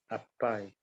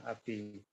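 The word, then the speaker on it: अपि: Yene jevapyano panoyam pranaya priya tamere maya apai. Api. Yana English would be English. If you say English, pronunciation would be apai, yes, but that is Sanskrit. Yeah, api.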